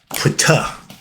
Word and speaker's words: Ptah: We're going to deal with my dude, guy called Ptah. It's pretty pronounced. The P is silent.